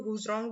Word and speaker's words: Zhurong: इसको जुरोंग भी बोल सकते हो, हुजरोंग भी बोल सकते हो दोस्तों, जैसे इसका प्रोनाउंसिएशन है वैसे, ठीक है।